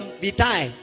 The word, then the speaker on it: vitae: Wale wanakuja na ile inaitangwa karika la vitae. Karika la vitae inaitwa hivi ama ni karika la vita. Vita, the E is silent.